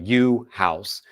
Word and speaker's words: Yuhasz: Yuhasz, just like it sounds, not like it's spelled.